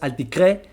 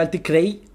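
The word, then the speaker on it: אל תקרי: Se dice altikra en hebreo, en arameo es altikre. Y él escribe altikrei porque quizás lo tomó en inglés, pero se pronuncia altikre. Por lo menos la pronunciación sefaradí es así.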